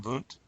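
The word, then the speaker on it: Wundt: psychological research and objectives William boot William wound is how it's spelled I had the first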